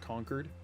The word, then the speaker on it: Concord: Really pronounced Concord. It's usually pronounced almost like conquered.